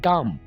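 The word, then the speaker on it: dumb: गूंगे को इंग्लिश में डम बोलेंगे, यहाँ पर आपने बी को साइलेंट रखना है, डम।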